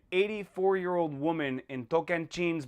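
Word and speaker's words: Tocantins: year old woman in token jeans Brazil yes that's the way to pronounce it in Portuguese I think we can say tokantines I I don't know how you Americans say it no pronunciation is a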